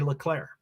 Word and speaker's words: Leclerc: And that's how you say Leclerc in French. You say Leclerc.